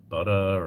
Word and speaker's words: Buda: I heard of uh I know it's not pronounced this way. It's called Buddha, Texas. It's like B U D A Butter or something like that.